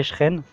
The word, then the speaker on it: Cheren: Moi, avant tout début, je disais Cheren, après il nous dit qu'il était Techeren.